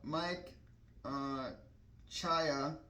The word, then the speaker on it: Czaja: So, but this is Mike Chaya in the 90 car. His last name is pronounced CZAJA.